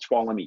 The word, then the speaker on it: Tuolumne: And one of those counties that was on there was a county called Tuolumne County. That's how you pronounce it, if you were wondering how you actually pronounce that.